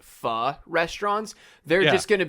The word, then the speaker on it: pho: Not called Thai food near me, but it's called PHO. How do you pronounce that dish?